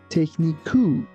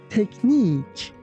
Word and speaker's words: technique: And also be careful that we don't say technique. It's technique. Technique.